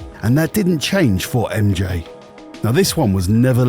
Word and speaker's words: R?MJ: It's spelled like this, but you actually pronounce it MJ for reasons.